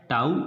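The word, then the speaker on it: tau: देखिए टॉर्क को रिप्रेजेंट किससे करते हैं, इस सिंबल को, जिसको प्रोनाउंस कैसे किया जाता है, टाउ से।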